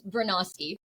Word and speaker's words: Bronowski: I get that I get everyone's name wrong, by the way. It's Bernoski. Oh, Bernoski.